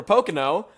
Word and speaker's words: Pocono: It's 3 Pocono. syllables.